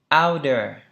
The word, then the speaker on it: outer: Thì chúng ta đọc là thành âm D.